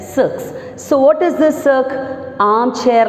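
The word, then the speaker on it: cirque: one is six c-i-r-q-u-e is pronounced that no as not circus it is pronounced as sucks so what is this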